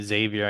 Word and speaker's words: Xavier: And um correction on that name, Xavier, I guess, is the correct pronunciation. No X on the front on the um on